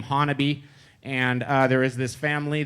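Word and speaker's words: Honobia: You pronounce that name Honaby.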